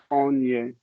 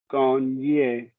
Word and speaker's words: gagné: Il semble que les Français ont gagné. What's the last word? Gagné. Would that be Gagn there? Yes. Would that be pronounced? Gagné.